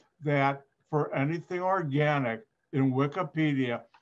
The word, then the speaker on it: Wikipedia: you're all familiar with wikipedia when it first came out i used to call it wikipedia my students would talk no it's wikipedia dr white they taught me the right way to say it now for chemistry especially